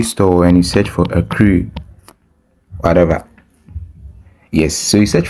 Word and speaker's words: Accrue: to my phone screen it's called a crew agree app right a crew like I don't know however you pronounce it anyway so let me go to Google and ask Google how to pronounce earthquake a crew a crew a crew yeah I hope we had it right a crew okay so